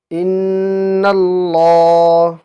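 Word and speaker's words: إن الله: উপরে জবর আছে সেজন্য আল্লাহ শব্দের লামকে পুর করে পড়তে হবে হামজা নুন জের ইন নুন লাম জবর না ইন্নাল লাম খারা জবর লা ইন্নাল্লাহ আওয়াজটা কিন্তু পরিবর্তন হয়ে গেল আমি লাল এখানে হয়ে গেল ল কেন হবে কারণ এটাই হচ্ছে মোটা হওয়ার পুর হওয়ার পরিচয় ইন্নাল্লাহা ইন্নাল্লাহা এবারে আমরা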